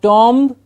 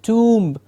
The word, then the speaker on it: tomb: have tio MB - not Dom we have generally hear it as an with an ah sound it's a tomb the tomb of whom